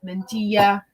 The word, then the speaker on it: mantilla: my high school spanish i forgot that the double l makes the yi sound mentilla silly silly americans